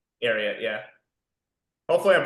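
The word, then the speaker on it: Ariat: just out of curiosity um well I like arot those are those are right arot yeah hopefully I'm pronouncing that correctly I want to say it's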